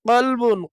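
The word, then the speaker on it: كلب: যেমন কফ, কফের উচ্চারণ মোটা হবে, পুর হবে। কাফ, কাফের উচ্চারণ বারিক বা পাতলা হবে। এটা আমাদেরকে খেয়াল রাখতে হবে। কফ, কাফ, কফ, কাফ। যেমন কফ লাম বা কলবুন, কলবুন অর্থ হৃদয়। কাফ লাম বা কালবুন, কালবুন অর্থ কুকুর।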